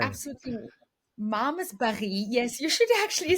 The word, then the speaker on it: Malmesbury: And it was just Malmesbury. absolutely Malmesbury.